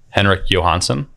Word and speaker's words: Henrik Johansson: Henrik Johansson. That's me. That's well pronounced.